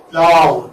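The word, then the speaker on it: plough: Plow. That's the one. Plow. See? Now G-H. G-H is silent. It doesn't have any existence here in the transcription or in the pronunciation of that. Plow. It's just plow.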